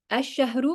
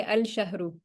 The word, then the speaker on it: الشهر: Do you say ash-shahru or do you say al-shahru? الشهر. Okay, good. And that's because it's a sun letter.